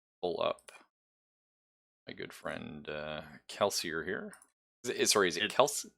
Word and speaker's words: Kelsier: Let's pull up my good friend Kelsier here. Is it Kelsier?